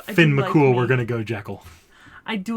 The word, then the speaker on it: Jekyll: Cole then but the American pronunciation is Jekyll look if we're gonna go uh I do Finn McCool we're gonna go jackal I do like me